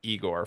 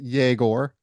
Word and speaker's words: Egor: Tell me about your impressions of Igor first and foremost. I think he pronounces it Yegor.